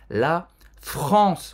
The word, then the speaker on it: la France: La France. Roberta já deu uma dica para fazer esse R bem gutural.